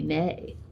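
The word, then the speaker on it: née: pronounce it yeah okay CU there is an A A over the first e so it should really be nay but oh okay well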